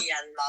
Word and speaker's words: Myanmar: Myanmar or Myanmar, like me and Mum.